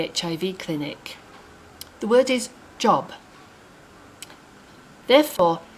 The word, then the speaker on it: Job: word is job therefore here in kenya we pronounce this book of the bible job that's what i've been calling it for the last 35 years for some unknown reason or maybe some of you know the reason in the uk we call it job english can be very